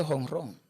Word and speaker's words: jonrón: Que de la palabra jonrón en el español, aquí en República Dominicana, en Cuba, Venezuela, México y Puerto Rico, tiene que decirse hongron y escribirse hongron con J.